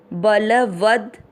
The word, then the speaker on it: बलवद: बल व पूरे के साथ आधा द वद, बलवद।